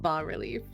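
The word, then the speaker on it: bas-relief: did not want to see that apparently it's pronounced ba relief okay or you could call it relievo sounds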